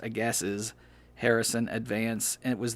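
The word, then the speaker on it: Agassiz: decided to purchase the aggies harrison advance actually i think that's pronounced a gases harrison advance and it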